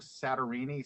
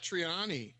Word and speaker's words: Satriani: I do a hangout with them um Joe sarini sarini oh sat Satriani Satriani yeah he does live he does live